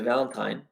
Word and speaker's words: Valentin: The Valentine. How do you pronounce that? Valentine or Valentin? Valentin.